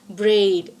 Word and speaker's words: bread: is in 17th century this particular word is pronounced with the long vowel it is not just bread it is braid like shade so attire and fire